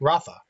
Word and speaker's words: Radha: Radha is pronounced with the TH, so Ratha.